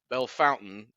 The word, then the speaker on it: Bellefontaine: all of your texts I'm pronouncing it correctly I believe now I I should have known all the time I spent in Indiana uh where phonics mean nothing relative to geography uh so Belle Fountain Ohio so not all